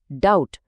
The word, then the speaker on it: doubt: DEBT को बोला जाता है डेट, DOUBT है डाउट, और SUBTLE, जिसका मतलब होता है नाजुक या बारीक, उसे कहते हैं सटल।